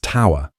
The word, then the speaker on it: tour: The word is pronounced tower and it means a 12-hour shift.